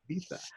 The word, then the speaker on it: Ibiza: So it actually sold to an end user because there's actually a very popular club in Ibiza, or Ibiza, I guess if you pronounce it correctly, Ibiza, and called Hi.Club, and they were the purchaser.